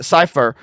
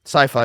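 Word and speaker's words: Sypha: grows also with uh cipher um sifa sorry sci-fi is how you pronounce it i feel like their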